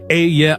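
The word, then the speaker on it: אהיה: Ehyeh, Asher, Ehyeh, pronounced Ehyeh, Asher, Ehyeh.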